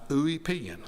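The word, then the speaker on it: Ulpian: and what is Justice it was defined by ouan spelled u l p i a n thanks to Google for the pronunciation a great Roman legal author centuries ago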